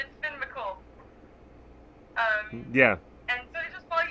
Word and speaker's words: Finn McCool: That's how you pronounce it. Yes. It's Finn McCool.